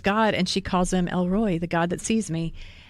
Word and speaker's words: El Roi: And my favorite one so far is, in Hebrew, it's pronounced El Roi, and it means the God who sees me.